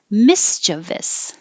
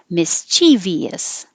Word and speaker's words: mischievous: vowel is ah toddler this word you have two choices you can say stress on the first syllable mischievous mischievous or stress in the on the second syllable mischievous mischievous and this is